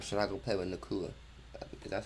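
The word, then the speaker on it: Nacua: Or should I go play with Nakua?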